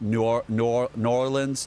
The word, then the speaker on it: New Orleans: It's kind of like It's kind of like New Orleans where you don't say the whole word, right? You kind of You kind of like New Norans. New Orleans, right?